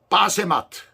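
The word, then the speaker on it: בָּשְׂמַת: 뜻은 칭찬하더라는 그런 뜻입니다 다른 한 사람은 바스메 빠세 마트 빠세 마트라는 그런 발음이에요 뜻이 뭐예요 향기라는 얘기예요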